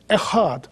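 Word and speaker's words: אחד: By the way, the word echad, I know it's hard for you to echad. Pronounce it, mm-hmm. people pronounce echad, it's echad.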